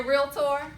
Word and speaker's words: realtor: I was a realtor realtor has two syllables so when you hear someone say this is my realtor it's not really accurate I am a realtor two-syllable say real tour tour so when you go